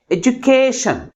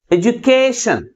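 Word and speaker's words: education: stress ని ఏం చేయాలి లాస్ట్ నుంచి సెకండ్ సిలబుల్ ముందు పెట్టాలి అంటే షణ్ కి ముందు సిలబుల్ ముందు స్ట్రెస్ చేయాలి అర్థమవుతుందా అంటే ఇప్పుడు ఎక్కడ పెట్టాలి కే కి ముందు పెట్టాలి ఏ జు కే షన్ దీంట్లో ఫోర్ సిలబుల్స్ ఉన్నాయి లాస్ట్ నుంచి సెకండ్ సిలబుల్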